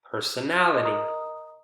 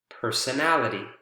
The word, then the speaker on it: personality: Personal, personality, personal, personality. Again, a shift.